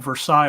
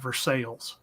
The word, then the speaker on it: Versailles: That's why instead of having Versailles, we've got Versailles.